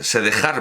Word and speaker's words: dejar: su madrastra, y determinado dejar morir, porque ya, no, estamos en 1540, no, ya se pronuncia dejar, se escribe con X, pero se pronuncia dejar, determinado de se dejar morir